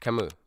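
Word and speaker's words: Camus: Oh, why can't I I can't spell it. Camu. Camoose. Camoose. Is it Kamoose? Is it? Yeah. Camu. Albert Camu.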